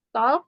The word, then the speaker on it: talk: Kalau mengobrol itu pakainya speak apa talk? Gimana, Miss? Ya, kalau berbicara itu pakainya talk atau speak. Nah, ini jadi bacanya talk ya.